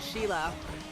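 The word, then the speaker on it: Scilla: And we got on the train and we went up to Sheila. Mhm. which is supposedly, you know, where Skila's was. But it's so cool because like Sheila is like the Italian pronunciation of Skila.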